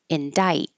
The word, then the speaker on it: indict: Indict. No C at all.